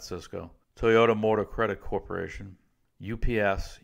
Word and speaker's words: Sysco: Southwest Airlines Sysco corporation sys CEO that Cisco Toyota Motor Credit Corporation